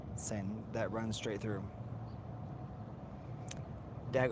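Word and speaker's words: Seine: I think people don't know this because the way it's spelled or the way that it's pronounced, but it's the s the sin.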